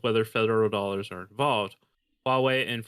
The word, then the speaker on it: Huawei: So this is DJI is basically being considered of I don't even know how to pronounce it, Hawaii on wings. Huawei.